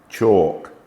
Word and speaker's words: chalk: KN no knife not L is often silent when included within the word as in Armond calm chalk Palm salmon some words